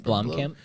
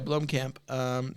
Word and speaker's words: Blomkamp: Blomkamp? Yeah, Blomkamp.